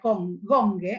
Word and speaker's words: Gonge: Hay otro texto que se llama Gong, en realidad Gonge, en realidad porque es el gong que se golpea, ¿no? O sea que, aunque se escribe Gonge, lo vamos a pronunciar Gong, de Marcelo Cohen, del